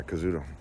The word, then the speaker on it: Kazuto: Kazuto, how do you say it? Yeah, Kazuto.